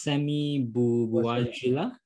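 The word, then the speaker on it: Sami Bouajila: I guess your actor, I think his name is Sammy Bouajila. Did I pronounce it correctly?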